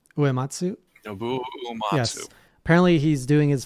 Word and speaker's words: Nobuo Uematsu: Nobuo Uematsu.